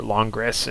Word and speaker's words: Langres: I normally call it like Langres or Langres or something like that, but Langres, I believe, is the correct French pronunciation.